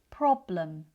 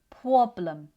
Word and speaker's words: problem: Pr can sometimes sound like pwah. pwoblem So, the r sounds more like a w.